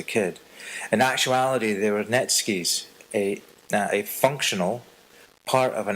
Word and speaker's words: netsuke: The word Netsuke is composed of two characters, the NE meaning root and TSUKE to attach. A Netsuke is actually pronounced ne tsuke, or Netsuke, which is a common but improper pronunciation.